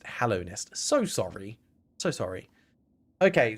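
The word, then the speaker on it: Hallownest: Yeah, I was saying it wrong. I was saying Hollow Nest. Hallow Nest.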